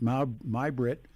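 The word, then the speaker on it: Mai Britt: They pronounced it Mai-Britt.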